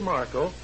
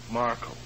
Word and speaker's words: Markle: Now, this is Fletcher Markle of CBC. I'm sorry, I didn't catch the name. Markle. How do you spell that, sir?